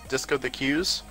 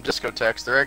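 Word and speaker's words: Discotheque: But when it comes to the Disco the Q's, everyone calls them discotechs. It's actually pronounced Disco the Q, if you didn't know.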